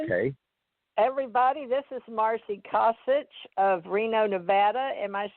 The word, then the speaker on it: Kosich: Kosich.